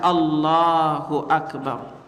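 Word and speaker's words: الله أكبر: makanya muazinat muaz kadang-kadang Allahu Akbar Allahu akbarangb ob-ti Allahu akbar lalu juga Lang ini jangan sampai dipetekkan ada yang kadang-kadang allahu akbar allahu AKB ini lafaznya cuma dua harakat tapi di Indonesia baya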